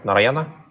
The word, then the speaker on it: Narayana: Am I pronouncing it right? Narayana? Yeah, that's right.